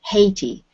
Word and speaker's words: Haiti: And in this word, it's Haiti. So we do pronounce the H on that.